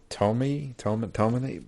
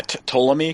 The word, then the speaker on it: Ptolemy: Tome or Ptolemy? It starts with a P, but I don't think there's a... Yeah, Ptolemy, because it's Ptolemaic. Ptolemy, yeah. Yeah, I think the P's silent.